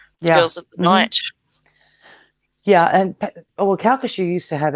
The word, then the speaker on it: Calcasieu: talking and we was all right I was Calcasieu is that how you say it yeah yeah Calcasieu Parish yeah Calcasieu Paris parachutes me it seemed